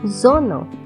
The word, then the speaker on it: Sonne: The letter S has three common pronunciations S, Z and Sh. However, in this word, it should be pronounced as Z. So the word is pronounced as Sonne. The letter T has pronunciation T.